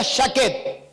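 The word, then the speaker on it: שָׁקֵד: La vara de almendro en el hebreo se pronuncia shaket.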